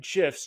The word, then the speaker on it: GIF: to make your emails pop by adding animated gifs in MailChimp I'm from Gmail and in today's video I'm going to cover exactly how to insert animated gifs directly from Jiffy using MailChimp tools let's get